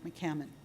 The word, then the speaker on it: McCammon: So anyway, so the good news is that Liz is here, Liz McCallum. Right the first time. Rhymes with salmon, remember, McCammon. McCammon.